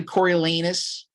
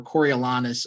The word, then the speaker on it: Coriolanus: Apparently, Coralanus, which I'll refer to them as, or Corolanis are are both considered uh acceptable pronunciations.